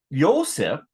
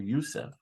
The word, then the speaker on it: Yosef: Yosef, it's like the Middle Eastern pronunciation of Joseph. Yosef or Yusef. Yosef. Depends on the country.